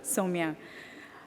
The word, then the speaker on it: Somia: someone that if they if you have trouble remembering how to pronounce it just think of so me a pair of pants and that might help so Samia thank you so much